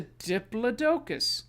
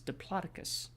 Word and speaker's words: diplodocus: guide they'd be like it's a diplodocus no it's diplodocus just like how it